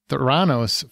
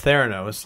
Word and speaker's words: Theranos: the story is, and it's Theranos, not Theranos, but you know, who's counting? I had a little bit of a Marvel tinge to it. You put the wrong syllable and the wrong emphasis, but or backwards even.